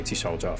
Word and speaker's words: Talja: According to Talja's records, Talja, they they pronounced it slightly different than how it's spelled, so I'm just going to say Telja for now.